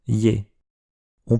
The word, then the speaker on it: Ё: Yo est une lettre un peu bizarre. Le tréma est facultatif et bien souvent on écrit simplement Yé et c'est au lecteur de savoir si on doit prononcer Yé ou Yo.